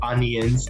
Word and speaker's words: onions: I say onions, and then everyone says onions. We don't say the I really at all. We say UN.